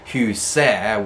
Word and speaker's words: huset: form, like the house, huset, which is written with an ET ending because it's neutral gender. There you don't pronounce the T, so people get into this habit of never pronouncing the T at the end.